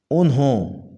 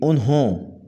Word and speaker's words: انہوں: تلفظ ہوگا اوسط، اوسط۔ انہوں، یہ غلط تلفظ ہے، اس کا صحیح تلفظ ہوگا انہوں، ہائے دو چشمی آئے گی انہوں۔ ابھی بھی، یہ غلط